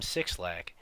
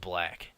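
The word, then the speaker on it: 6lack: a big problem because everyone was calling him sick slack and then he put out a hoodie where it's like six leg is pronounced black to clear things up for everybody yeah well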